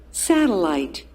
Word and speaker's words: satellite: So the stress in the first part.